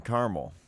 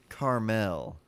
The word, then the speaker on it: Carmel: Is it pronounced caramel or caramel? Yeah, that makes sense. Carmel, that's my Appalachia uh coming out.